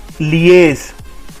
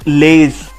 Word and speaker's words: liaise: So our next word is liaise. It's liaise, not laze. It's liaise, which means cooperate on a matter of mutual concern. So it's liaise, and इसकी pronunciation है LEE hyphen AYZ.